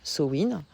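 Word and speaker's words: Samhain: des veillées de sowin alors ça s'écrit sa main mais ça se prononce sowin S a m H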